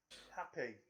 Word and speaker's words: Happe: sure i was pronounced it's h a double p e happy happy he could have